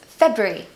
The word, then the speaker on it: February: it's just really confusing it's actually just two syllables February February easy I really don't like